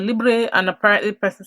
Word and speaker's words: Libre: the damn thing and they said it's pronounced as Libre so I've been pronouncing as Libra but then I've got